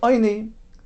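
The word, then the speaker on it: עני: So although it's spelled ayin, we read it as though it would be an aleph oini, and only something which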